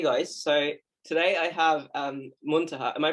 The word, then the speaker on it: Muntaha: So today I have Muntaha. Am I pronouncing that correctly? Yeah, Muntaha, whatever works.